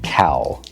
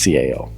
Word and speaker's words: CAO: I wish the way to pronounce it was cow, but it's CAO.